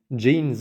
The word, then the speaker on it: Jeanne: yet by the way I did look up the pronunciation of Gene finally and while it is a French name that is actually the English pronunciation does seem to be jeans or I'm gonna stick with that for now thanks to nitetto and